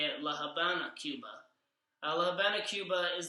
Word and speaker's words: La Habana: more Spanish spoken countries the V is pronounced as a b and that's why La Havana is actually more as you can say it La Habana Cuba La Habana Cuba